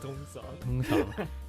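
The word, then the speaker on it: Thung Song: Shout out Tung Song, Nakhon Si Thammarat. How do you say that? Tung Song. Tung Song.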